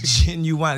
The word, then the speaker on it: Ginuwine: It's not genuine. It's Ginuwine. It's just like it sounds.